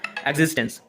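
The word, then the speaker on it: existence: Extension कितना बार लोग बोलते हैं, लेकिन इसका सही प्रोनाउंसिएशन होगा एग्जिस्टेंस।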